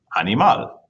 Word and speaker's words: animal: All right, so in this word, which is the stressed syllable in animal? The answer is mal. Animal. Okay, it does not end with a vowel, an N, or an S.